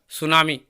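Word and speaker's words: tsunami: इसमें दिया गया है the first letter of the word सुनामी is silent. अर्थात टी जो है इसमें क्या है? साइलेंट है, इसका उच्चारण नहीं किया जाता।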